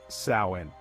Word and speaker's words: Samhain: that it all began with a festival called samhan pronounced sain people believe that on October 31st the boundary